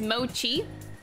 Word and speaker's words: mochi: moki or machi chat i actually don't know how it's supposed to be pronounced oh i love the dongo song too it's good oh it's mochi mochi oh mochi okay thank you i should